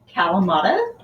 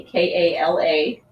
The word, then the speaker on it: Kalamata: Okay, especially these really salty Kalamata. If you're looking to where to find them, they're spelled with K, K-A-L-A-M-A-T-A.